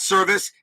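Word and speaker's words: Servais: pitches to Scott service Scott service the pitcher his last name is spelled s r v i c the batter Scott service his last name is spelled s rvis s and they are spelled the they they are sounded exactly the same and yep Scott bullet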